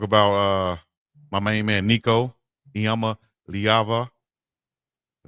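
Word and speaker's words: Iamaleava: We got to talk about uh my main man Nicoyama Lyava. I said it right. Lyava. Just say Nico the the the Tennessee former quarterback. You Nico the Tennessee former quarterback. Nico Yamaava.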